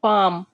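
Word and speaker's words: palm: खटखटाना पी ए एल एम L word इसमें silent होगा तो इसको हम क्या पढ़ेंगे पी ए एम को पाम पाम मीस होता है हथेली पाम मींस हथेली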